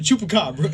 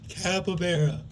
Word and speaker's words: capybara: I slapped my desk. I went, chupacabra. And everybody looked at me. And I was like, what? And she clicked on that bitch went, capybara.